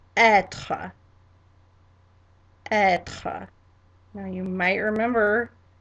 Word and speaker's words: être: And in French it's pronounced être.